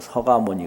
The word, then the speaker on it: 석가: 근데 쓰기는 석가 이렇게 쓰는데요. 부를 때는 서가 이렇게 불러요. 석가모니 그러게 안 하고 서가모니 그러거든요.